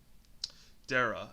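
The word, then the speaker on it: Daraa: to that he gets captured at uh dara dara and um that's how you pronounce it and uh basically what was their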